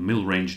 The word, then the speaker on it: Millrange: you my so-called Zenon mil range deck yes mil range that's a strange name and it consists of two parts mil and range and it's rhymes with mid range so honestly mil and